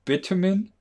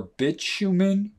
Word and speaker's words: bitumen: And the term bitumen or bitumen, I've heard it pronounced either way, and I think both are correct.